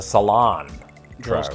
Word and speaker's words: salon: might say the salon except they'd place the emphasis around here we mostly say the barbershop but I don't know second syllable as in the salon cilantro it sounds like